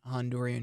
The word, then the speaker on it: Honduran: the States, what would you say to someone Honduran who, or is that the way to pronounce it properly?